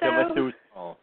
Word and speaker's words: Villasuso: is it Villasuso? Villasuso. Yes. Ah, just like it reads, he is definitely out of there as Dario.